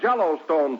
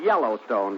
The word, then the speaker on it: Yellowstone: Out West we have Jello Stone Park wait a minute that's pronounced Yellowstone Don but I can see